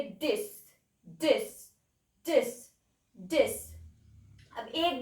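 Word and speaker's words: dix: Now 10 को आप लिखेंगे डिक्स. बोलेंगे डिस.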